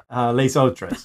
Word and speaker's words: Les autres: Les autres is how you say it.